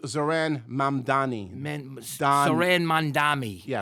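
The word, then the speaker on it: Zohran Mamdani: It's pronounced Zaran Mandani.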